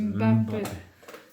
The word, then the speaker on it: Mbappé: Oui, c'est vrai que même le Mbappé, se dit c'est Mbappé. Voilà.